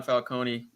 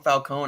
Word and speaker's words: Falcone: him as a carmine falcone really which yeah they called him falcone i've always pronounced falcone but um see hey